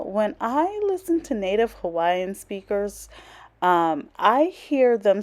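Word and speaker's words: Hawaiʻi: I listen to native Hawaiian speakers I hear them say Hawaii where the W is pronounced with the V so it's hard for me sometimes because I you I'm used to saying Hawaii with the w so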